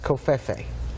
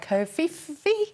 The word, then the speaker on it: Covfefe: Covfefe or Covfife, depending. It's not a word either way.